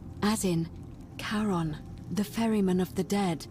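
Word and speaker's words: Charon: The name you heard wasn't Karen. It was C H A R O N. As in Karon, the fairyman of the dead. Yo, Karon, who in exchange for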